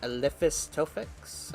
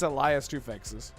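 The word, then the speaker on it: Elias Toufexis: The main character is voiced by Eliphas Tofix, I think his Oh name my is. god, you Elias just Tofix?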